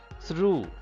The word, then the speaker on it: through: gh are silent here through through gh these are the two letters which are silent i mean which are not pronounced in the word through ghost whiteness bright through